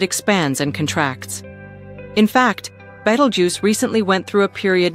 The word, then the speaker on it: Betelgeuse: It's pronounced Beetlejuice, just like the 1988 film starring Michael Keaton.